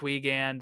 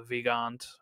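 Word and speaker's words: Weigandt: this is weant uh probably pronounced weand the same way or you know the German Way of uh vant vand um because it's w e i g- n d t which is the old German spelling of it uh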